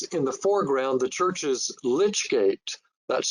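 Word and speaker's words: lych gate: And it shows in the foreground the church's lich gate, that's spelled L-Y-C-H, which was built in 1889.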